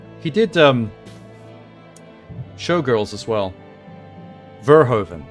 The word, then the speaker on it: Verhoeven: Verhoeven. There we go. My brain kept wanting to say Vanderhoeven.